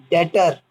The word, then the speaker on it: debtor: अभी सिर्फ क्या होती हैं एसेट्स, जैसे machinery, building, furniture, land, vehicle, डेटर, DEBTOR, D silent है।